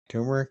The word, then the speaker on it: turmeric: Turmeric. Is that how you say it? Tumeric. I say turmeric.